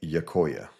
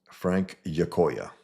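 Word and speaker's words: Giacoia: According to YouTube pronunciation, it's Frank Yakoya. Yakoya. G I A C O I A if anyone's out there with Spanish heritage or something or let me know. Frank Yakoya.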